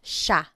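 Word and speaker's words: siya: point out the pronunciation it looks like it should be pronounced but it's usually pronounced Sha Sha Sila is theyo is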